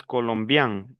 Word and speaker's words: colombien: Yo les expliqué a ustedes colombian. Mire que aquí tengo e n, que es an colombian.